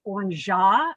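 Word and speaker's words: orgeat: And this is pronounced orangeat, but it is an almond syrup.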